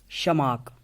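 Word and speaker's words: Tschermak: तो उसमें से फर्स्ट अगर हम देखेंगे ह्यूगो डिवेरीज थे, ह्यूगो डिवेरीज एक थे, दूसरे क्वारन्स दूसरे थे, तीसरा शमाक, टी यहाँ पे साइलेंट रहेगा, शमाक।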